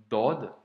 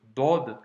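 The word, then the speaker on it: ضاد: D'ailleurs, je t'ai remis ici les trois lettres majeures que l'on a vues, les trois lettres à prononcer avec emphase. Ici, la lettre Dod que l'on a vue aujourd'hui.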